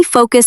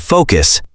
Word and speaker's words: focus: Let's look at the pronunciation of focus. Many beginners find it difficult. Can you give a tip? Yes. Listen closely. Focus. The first part sounds like go or no.